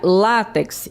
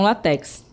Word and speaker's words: látex: Então, observe aí que eu tenho o acento tônico é no lá e não no final. Então a gente pronuncia látex e não látex, certo?